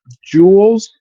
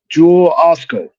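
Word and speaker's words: Jewel-Osco: Like growing up in Chicago, it's called Jules, uh, Jewel Osco. Look, I was Okay. trying to say it, and I still said it wrong.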